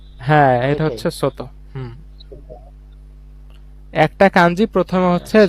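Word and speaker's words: 外: এটার উচ্চারণটা কি হবে স্যার? এই যে সোতো, এই সোতো, ছোট, সোতো।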